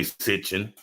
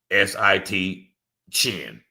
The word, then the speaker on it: Sitchin: Zacharias Sitchin, it's really Sitchin, S-I-T, Chin, Sitchin.